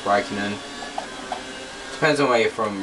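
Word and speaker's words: Räikkönen: Raikkonen, by the way, some people call him Raikkonen, but I believe it is pronounced Raikkonen.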